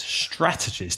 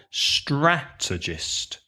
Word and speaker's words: strategist: strategy is a strategist strategist that is quite difficult to to pronounce stressing the first syllable right so a strategist also three syllables stress the first syllable strategist a strategist uses strategy